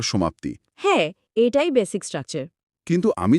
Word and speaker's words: は: তো এই হিরাগানা বর্ণমালায় একটা অক্ষর আছে যাকে বলা হয় হা। হ্যাঁ, কিন্তু এই একই অক্ষর যখন বাক্যের কর্তা বা সাবজেক্টের ঠিক পাশে বসে ওই ট্রেনের কাপলিং বা আংটা হিসেবে কাজ করে, তখন জাদুকরীভাবে এর উচ্চারণ পাল্টে গিয়ে হয়ে যায় ওয়া।